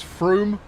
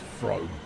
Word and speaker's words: Frome: Should be pronounced Frome, because that's how it's spelt.